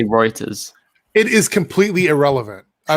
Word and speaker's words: Reuters: Apparently, it's Reuters. That's what I said. It's one of the three pronunciations.